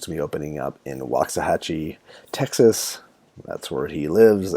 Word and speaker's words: Waxahachie: And can you pronounce pronounce the name of the city that your store is going to be in? Yeah, Waxahachie, Indian for really good barbecue.